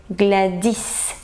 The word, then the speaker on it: Gladys: In French, I have to adopt French accent. So I'm gonna say Gladys, because in French, the last syllable is the strongest one.